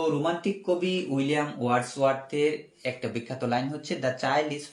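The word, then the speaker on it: Wordsworth: একটা line Covid নাম আমরা দেখব এখন উইলিয়াম ওয়ার্ডস ওয়ার্থ উচ্চারণটা লিখে দেই প্রথমটা হচ্ছে উইলিয়াম উইলি লি আম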